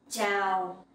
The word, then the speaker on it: chào: And the sound chờ in chào. You can pronounce like in champion.